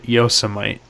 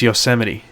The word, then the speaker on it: Yosemite: Oh, speaking of saying words wrong, you said Yosemite in the video. How's it pronounced? It's Yosemite.